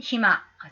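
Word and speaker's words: 暇: 그럼 이토마가 아니고 히마라고 읽어야 될 것 같아요. 히마. 물론 이거 이토마라고 읽을 수 있습니다만 여기서는 히마.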